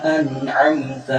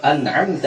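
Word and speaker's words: أنعمت: Dalam pengucapan an'amta 'alaihim, kebanyakan kekeliruan ketika orang membacanya adalah nunnya dijadikan qalqalah. Contohnya an'am, ya. Jadi nunnya jangan ditinggalkan karena dia bukan huruf qalqalah, jadi tidak perlu dipantunkan.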